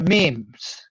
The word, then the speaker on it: memes: Memes. Memes? How do you pronounce that?